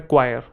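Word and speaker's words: choir: क्वायर क्या बोलते हैं, दोनों की प्रोनाउंसिएशन सेम है, क्वायर।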